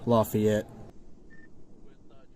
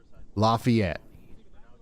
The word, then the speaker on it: Lafayette: Just wanted to let you know it's pronounced Lafayette. Lafayette.